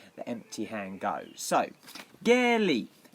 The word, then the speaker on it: Geri: Even though it has an R, the R is pronounced as an L in Japanese. It's not Geri or Geri, it's Ge, because you do the E as an A and the R as an L, Geri, and the I as an E.